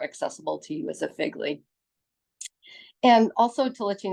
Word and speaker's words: FGLI: admissions alumni panel for Figley uh Figley is the pronunciation of the acronym first generation in college and lowincome students so